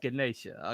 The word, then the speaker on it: Ganesha: like what I'm sorry I mispronounced it it's Ganesha okay no it I